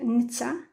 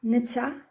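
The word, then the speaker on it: netta: Donc Netsa. J'ai dit deux fois T, ça se prononce Tsa. Netsa.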